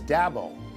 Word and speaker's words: Dabo: you know him as dabo which is a kind of a scrunched up pronunciation of that boy he has built clemson